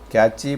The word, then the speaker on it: cache: Cache, pronounced cache memory is similar to RAM, except that